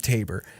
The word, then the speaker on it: Taber: get water right and it was originally called t tabor with an o now it's spelled t-a-b-e-r tabor alberta and and i